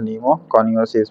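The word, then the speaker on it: pneumoconiosis: इसलिए निमोनिया याद रखें निमो कोसिस प य साइलेंट हो जाएगा ठीक है पौधा में लगने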